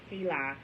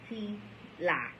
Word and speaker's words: HeLa: The word Heli, capital H, lowercase e, capital L, lowercase a, Heli, used to refer to the cells grown from Henrietta Lax's cervix, occurs throughout the book. It is pronounced Heli, H-E-E-L-A-H, in case I was having trouble pronouncing that or didn't know that.